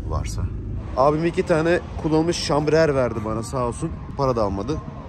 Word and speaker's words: chambre à air: Şambrer ne demek ve nasıl okunuyor? Şambrer mi? Şambrer. Şambrer. Hava odacığı demek Fransızcada. Ama biz ona şambriel diyoruz.